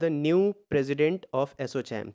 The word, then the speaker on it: ASSOCHAM: Next question है, एसोचैम के नए अध्यक्ष के रूप में किसे नियुक्त किया गया है?